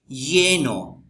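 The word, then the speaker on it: lleno: एल ला ये एले ये नो इसको ये ये जब दो एल साथ आएंगे तो इस इसकी प्रोनंसिएशन जो है वो ये होता है येनो येनो येनो का मतलब फुल फुल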